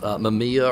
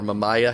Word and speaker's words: Mamiya: a big fan of Mamiya or mamaia however you want to pronounce this kind of like